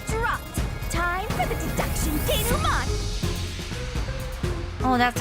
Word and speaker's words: denouement: Time for the deduction denouement. Oh, that's how it's pronounced.